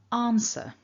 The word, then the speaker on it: answer: word in isolation answer but if i say the word is afterwards for example in the sentence the answer is correct hopefully you can hear that i didn't really say is it sounded more like ris with a little r and that's that linking r activating the answer is correct